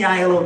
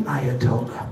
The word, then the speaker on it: Aiello: No, it's like Danny Aiello, the famous actor. It's Italian. It's A-I-E-L-L-O. But the A silent, people don't know how to say it.